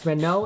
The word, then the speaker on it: Renault: It's Renault. It's French.